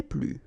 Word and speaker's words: plus: Okay, so keep in mind that I don't pronounce this final S here, so we get le plus, la plus, les plus.